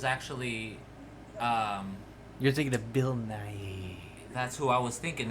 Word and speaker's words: Nighy: 90% sure because I think it's Nighy. Right? Yeah. Is how you pronounce it.